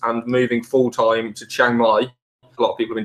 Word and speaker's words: Chiang Mai: If you're going to go to Chiang Mai, that's how you say it, I would start going to the networking events that Diggity hosts, definitely.